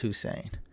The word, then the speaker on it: Hussein: offense but i gotta i have to correct the record though it's hussein uh russell wilson over